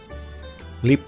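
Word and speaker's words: LEAP: tulisannya L E A P ya, Lip dibacanya teman-teman.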